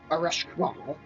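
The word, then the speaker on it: Ereshkigal: He has his Arashkwal. Yep, that's the official pronunciation.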